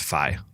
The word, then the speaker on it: Fi: Oh, I found out it is pronounced Fi.